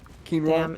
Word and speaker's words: quinoa: did you see the commercial whereas like uh pronounced this word and it's quinoa it takes way too long to get there